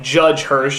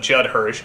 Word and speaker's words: Judd Hirsch: never quite pronounce correctly like judge Hirsch instead of Judd Hirsch Ralph Bosch key instead